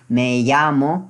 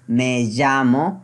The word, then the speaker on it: me llamo: our country basis so Spanish people like an in Spain Europe original country they pronounced me llamo but I learn in the way Colombians pronounce so I and I really love the song so I pronounce man John Moe yeah so two ways